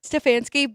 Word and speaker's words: Stefanski: Stefanski, but I agree with you.